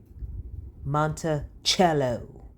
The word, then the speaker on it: Montello: And so we're going to go run over to Montello or Montello. I don't know how everybody pronounces it differently. Um cello like the instrument. Yeah. Big dummy. Montello.